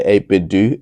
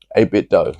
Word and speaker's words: 8BitDo: do you know what I used to say a bit do and someone was like Hey a bit doe a bit dough so a bit though that's how you say it's a little bit